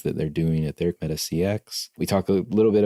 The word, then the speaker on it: MetaCX: at pendo and now you're the president at meta CX is that how you am i pronouncing that right that is correct okay correct